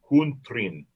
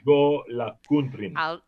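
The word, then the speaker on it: Jólakötturinn: It's Jolakuntrin. Okay. Jolakuntrin. You can be right in my book. Well, this is one scary kitty cat. The Yule cat, the Jolakuntrin or Jolakuntror, is a huge and vicious cat from Iceland.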